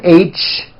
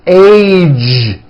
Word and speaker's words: age: the ends of words be sure to keep the voicing going throughout the whole word age it's not H its age with a voice of ending college posted stage pledge